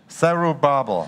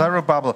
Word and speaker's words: Zerubbabel: Is a name very hard to pronounce. 有一个他名字很难念。 Zerubbabel. 索罗巴伯 Zerubbabel.